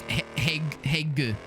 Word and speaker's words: Hague: 1 syllable. Hague. Hague. Yeah. As if you're trying to say hey to somebody, but then you like have like some gunk gets stuck in your throat a little bit.